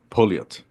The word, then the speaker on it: Pouliot: Ladies and gentlemen, give a warm welcome to Pouliot. I All pronounce it right, right?